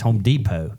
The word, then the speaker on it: Home Depot: I said, "Buddy, it's Home Depot." And he said, "No, there's a T at the end." I said, "Yeah, but the T is silent."